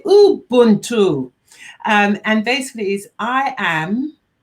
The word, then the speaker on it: Ubuntu: My friends keep on saying to me, Pearl, say it correctly, because it sounds like there's an M and it's spelled U-B. So say Ubuntu.